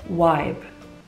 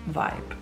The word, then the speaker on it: vibe: And then we start strongly with my first ick, namely people some says Wibe. For some reason they say vibe like it's spelled with a w.